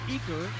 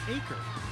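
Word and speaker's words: Eaker: She says the whole Gymternet thought that Eker was pronounced Eker until we found out it's actually pronounced Acre.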